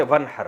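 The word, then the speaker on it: وانحر: हैं अरबी में नहर तो वन असल में था न हर पढ़ा जाता है मिलाकर वन हर तो अलिफ साइलेंट हो जाता है वन हर फसली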